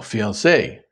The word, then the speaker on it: fiancée: Fiancé or fiancée? The woman who is engaged is called the fiancé with the extra E, and the man, the fiancé. The pronunciation is the same, although the spelling is not, and you can blame